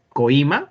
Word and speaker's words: coima: Es como cuando ustedes pronuncian esta palabra. ¿Cómo la pronuncian? ¿Coima o coima? Coima. Claro, coima. ¿Sí o no? Ya. ¿Por qué están poniendo esas imágenes en el chat? Ya. Coima, boina, así se pronuncia.